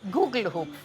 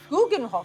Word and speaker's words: Gugelhupf: Gugelhoop. Guggenhof. Guggenhof. Yeah. I struggled with the pronunciations, but had no problems eating it.